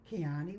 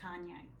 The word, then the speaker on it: Kanye: The other person I looked at today was Keani West. Kanye. Kanye always say his name wrong. It says Keani like Keanu and I know and